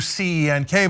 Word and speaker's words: Cenk: It's still Cenk, but I don't want to go through C-E-N-K, but the C is pronounced like a J and it's Cenk.